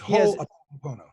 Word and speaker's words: Ho'oponopono: You know, I tell people just remember Ho, and then after you remember Ho, it's Oponopono. Ho'oponopono.